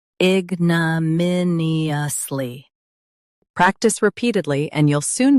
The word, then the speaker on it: ignominiously: Ig, n, min, e, us, ly, ignominiously.